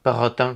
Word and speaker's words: Perrotin: Perro...How's it pronounced? That's it. Perrotin.